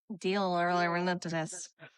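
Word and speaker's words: Di Laurentis: Darentes. Dorentes. There we go. That was okay. You also can't pronounce taladega.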